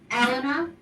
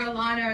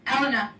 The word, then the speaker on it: Elena: calls me elena or alana or this but i thought i just let you know if it's elena like ellen with an a but anyway i have